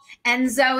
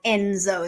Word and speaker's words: Enzo: Enzo is a big brother name.